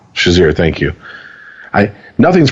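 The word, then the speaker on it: Shazier: to a hospital because of his is any pronounce his name sazir shazir thank you i nothing's pronounced like it's supposed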